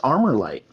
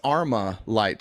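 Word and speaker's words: ArmaLite: say I know it's armor light no it's Arma light not armor light yeah you don't semantics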